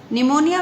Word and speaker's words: pneumonia: निमोनिया में बेटा P silent रहता है एन से स्टार्ट होता है लेकिन स्पेलिंग में निमोनिया।